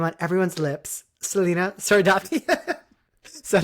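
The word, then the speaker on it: Sardothien: So it starts with the name on everyone's lips, Selena Sardathia. Is that how you say it? Selena Selena. Sardothian.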